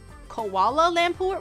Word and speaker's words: Kuala Lumpur: Kuala Lumpur. I think I said that right. I think I said that right. Kuala Lumpur?